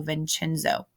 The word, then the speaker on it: Vincenzo: His father, Vincenzo, was a musician. So in Italian, that C is pronounced CH, so Vincenzo.